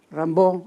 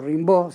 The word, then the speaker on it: Rimbaud: las imágenes de aquí rambo o rimbaud según como se quiera pronunciar lo que era muy joven